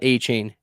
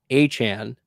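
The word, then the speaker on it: Achane: rolling would you trade a Chan that's how you pronounce it by the way not a chain a Chan for Jonathan Taylor in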